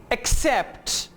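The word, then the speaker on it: accept: Double C is usually pronounced like KS. एक्सेप्ट, कबूल करना. एक्सेप्ट. एक्सेस, पहुंच या रसाई.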